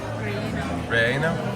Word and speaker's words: relleno: And the chili relleno. Did I say it right? Relleno?